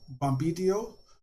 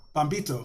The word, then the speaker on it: Bombito: You have Moise Bombitio playing, sorry if I mispronounced that, but Bombito, I said it right, second time.